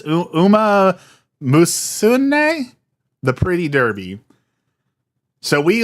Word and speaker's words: Umamusume: It's like, I can never pronounce it. It's Umamusume, the Pretty Derby.